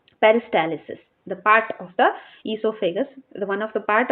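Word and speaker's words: oesophagus: So some of them type this esophagus as starting letter O. It can also start with the O or else directly from the E. Actually O is silent.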